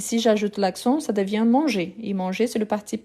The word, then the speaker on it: mange: prononciation ok donc je mange je mange je mange tous les fois qui j'ai un e à la fin qui n'a pas d'accent je ne prononce pas je ne le